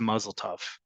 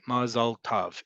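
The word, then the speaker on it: מזל טוב: sounds, which is why it often comes out as mazel tov, right? Mazal tov. Those are easier sounds to make as opposed to mazal tov, which is also easy to pronounce because all those syllables and all those vowels complement one another. But that's the main reason. Modern Hebrew default emphasis is on the last syllable. Ashkenazi Hebrew, second to last.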